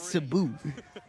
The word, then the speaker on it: Sabu: Excuse me, it's pronounced Sabu.